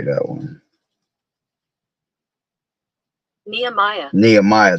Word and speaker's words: Nehemiah: Nehemiah, that's how you say it.